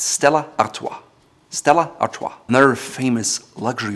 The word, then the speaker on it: Stella Artois: It's not Stella Artois, it's Stella Artois.